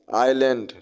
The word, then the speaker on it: island: Next question है Sri Lanka is dash आइलैंड, ISLAND, आइलैंड पढ़ा जाता है इसको।